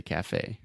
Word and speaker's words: café: So with all of these things with acento agudo at the end, we say a. Just like eu dei alguma coisa para alguém. Yeah. So, for example, café, we say café.